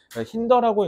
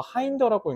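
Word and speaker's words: hinder: 힌더라고 읽는 원어민들도 많고, 하인더라고 읽는 원어민도 많은데, 일단 기본적으로 힌더라고 보통 읽습니다.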